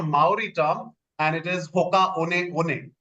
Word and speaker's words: Hoka One One: because it is a mai word it is pronounced as Hoka on on okay it's pronounced as h i mean it's